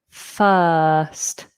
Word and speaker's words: first: The I makes up the the vowel sound uh uh f first. First first. So if you can ignore that R, get that long lazy vowel, then that'll be nice and easy for you first.